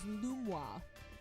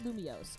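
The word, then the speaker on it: Lumiose: Oh, apparently somebody said that the pronunciation is Luma. Not Lumios. It's Luma. If you want to pronounce it proper in French, it's Luma.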